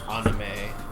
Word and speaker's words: anime: Here's what I mean is when I watch Anime watch or ah-ni-meh, if I'm going to say it correctly.